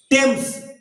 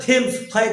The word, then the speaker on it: টেমস: নাম হচ্ছে গিয়ে কি নদীটার নাম কি বলছি টেমস কি স্পেলিং দিলামটি এসম এটাকে কেউ কেউ উচ্চারণ বলে থেম মদন্তকার মদন্তে তাহলে লন্ডনের যে টেমস নামক নদী সেই টেমস নদীর উপরে অবস্থিত একটি বিখ্যাত ব্রিজ।